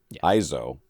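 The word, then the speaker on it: EIZO: supplier for professional oleds monitors from ESO Asus ISO e-i-z-o ISO Asus and LG they were also tcl's partner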